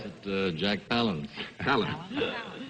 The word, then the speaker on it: Palance: I pronounce it Jack Palance. Palance.